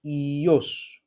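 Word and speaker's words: υιός: So this is the economy, and ios, okay? It's pronounced again as E, and it is the son, okay?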